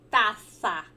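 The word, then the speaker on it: taza: fala xícara em espanhol xícara em espanhol se fala taça né se escreve com aceita com z né mas a pronúncia é semelhante com o nosso taça aqui do português então na taça de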